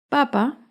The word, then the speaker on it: papa: Papa lleva el acento en la primera sílaba. En cambio, papá lleva el acento en la segunda sílaba.